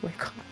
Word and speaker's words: Wacom: This is pronounced Wacom.